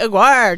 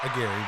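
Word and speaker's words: Aguirre: Aguire. Did I say your last name right? Agiri. Agiri.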